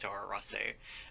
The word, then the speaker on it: Toro Rosso: sebastian bremi and also i wouldn't stress the row in tora rosso it's just tora rosso um but then again